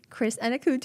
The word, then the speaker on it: Chris Anokute: My dear friend, Chris Anokute.